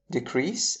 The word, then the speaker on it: decrease: Notice how if the shift is on the first syllable of these words decrease and increase, we have a noun which means the act of increasing or decreasing.